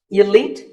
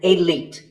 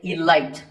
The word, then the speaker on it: elite: Actually, there are two correct pronunciations, elite and elite. Both are okay, but just don't say elite. There's no light in elite.